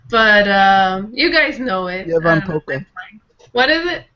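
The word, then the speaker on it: Ievan Polkka: Yevan Polka. What is it? Yevan Polka. Yes, of course. Levan Polka in this, and she's going to dance with kids. The L is silent.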